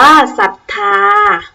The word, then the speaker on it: ศรัทธา: เศรษฐี อ่าน ว่า เศรษฐี ตั้ง เรื่อง สังเกต ดู นะ คะ ทั้ง 5 คำ ที่ พูด เล่น เอา เสียง ไป ครู ออก เสียง เรือ หรือ เปล่า ไม่ ออก เสียง พยัญชนะ เรือ นะ คะ ติด ต่อ มา พยัญชนะ